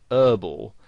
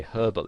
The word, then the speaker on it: herbal: word is pronounced now in american english the word herbal uh has the h silence so they pronounce it herbal now you might find